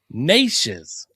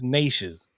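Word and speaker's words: Neches: through Bowmont is pronounced Nishes or Nishes. The name is pronounced with a long a sound rhyming with neighbors. So nay neighbors. Nishes followed by a shez or shiz sound. Nishes. Nishes.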